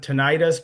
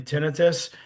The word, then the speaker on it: tinnitus: Some people pronounce it tinnitus, but it's actually tinnitus. I have tinnitus myself.